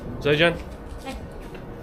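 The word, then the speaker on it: 再见: zài jiàn!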